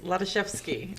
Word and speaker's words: Hladyshewsky: so with that miss um please pronounce your last name for me no worries lotazewski is the last name but is fine leather chef's ski did i get it right yes he did